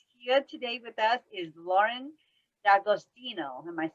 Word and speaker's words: Lauren D'Agostino: and our guest here today with us is lauren d'agostino am i saying it right yeah good job